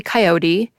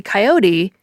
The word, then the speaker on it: coyote: But I believe the 3-syllable version is actually the older version, since the word comes to English from the Mexican Spanish word coyote, which ultimately goes back to the Nahuatl word coyotl.